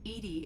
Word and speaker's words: EDI: are you named edie edie is the phonetic pronunciation of edi that is an acronym for enhanced defense intelligence okay where are you